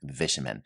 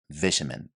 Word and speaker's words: vitamin: issue with this term vitamin. Now I'm saying it in the British English. This is how it is pronounced there, vitamin. However, in American English, it is pronounced vitamin. Vitamin.